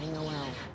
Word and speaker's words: Noel: Did he pronounce it Noel or Noel? Noel. Oh, is that Noel because of Christmas?